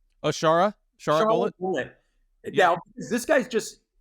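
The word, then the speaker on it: Shara Bullet: and you might have to um help me pronounce his name unless it's um is it is it Sarah bullet or Sara bullet oh Shara Shar bullet bullet now this guy's just I think he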